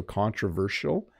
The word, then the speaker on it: controversial: about the word controversial I heard some people pronounce it as an S sound and others with a zed thanks for you thanks Bob you are amazing so controversial I do like the sh cont versial that's how I say it um